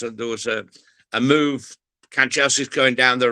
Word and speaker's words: Kanchelskis: and it was against Manchester United, and Andrei Kanchelskis was playing for United. And I thought to myself, hey, Jack's going to struggle with this. So I gave him a lesson on how to pronounce Kanchelskis, and in fact he cracked it, and so